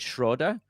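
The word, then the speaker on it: Schröder: Schroder, although actually, if you heard him say his name, he does pronounce it Schroder. So maybe we should be trying to do a little bit more of the accent.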